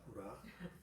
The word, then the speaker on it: 부라: 그러니까 하나님께서 너 혼자 내려가지 말고 부라라고 하는, 발음을 조심해야 돼요. 부라입니다. 부라.